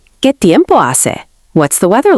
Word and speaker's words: hace: One of the most important weather phrases is Hace calor. It's hot. Repeat after me. Hace calor. Pronunciation help. Hace sounds like "ah-say".